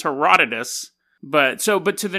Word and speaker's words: Herodotus: of people were like that's not how you pronounce his name hero dois his name is Herodotus but so but to